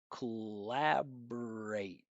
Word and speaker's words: collaborate: Unstressed syllable that finishes with R. No vowel sound here. Look at this. Collabor. Not collabor. Collabor is collaborate.